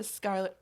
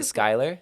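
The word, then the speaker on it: Schuyler: check on this the Skyler is it Skyler Skyler the Skyler sisters it's spelled s c h u y l e r just for the record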